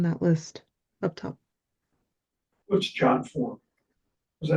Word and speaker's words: JotForm: what's jot form? Is that how you pronounce that?